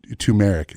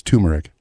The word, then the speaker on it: turmeric: Tumeric. It's turmeric.